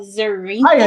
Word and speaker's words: Zarinka: you pronounce it like a Z. Hi Zarinka.